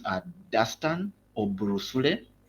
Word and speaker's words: Dustan: So my first my names are Dastan or Brus right so kind of a brief